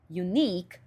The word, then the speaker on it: unique: Ela gosta muito de falar a palavra unique. Unique, que significa único. Só que perceba que no português a sílaba tônica é no u. é na primeira sílaba, tanto que tem um acento único. E ela tinha a tendência de fazer a sílaba tônica ser na primeira sílaba e ela falava unic, unic.